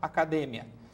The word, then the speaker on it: academia: mais sutis da gente tem a questão dos heterotonicos palavras que são iguais mas tem a sílaba tônica diferente então em português academia em espanhol academia em espanhol e therapia em português terapia Então essas sutilezas na